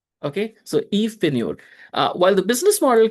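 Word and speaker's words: Yves Pigneur: Okay, so Eve Pine.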